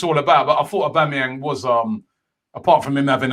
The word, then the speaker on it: Aubameyang: It's a whore. That's how the start of it. Whore. Keep this clean, man. Yeah. It's like whore. Yeah.